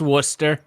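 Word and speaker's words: Worcester: let the Yankee talk just like how it's Worster not wor not it's wer that's how it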